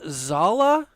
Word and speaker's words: Zala: Pronounced Zala. Is that right, Jay? Zala.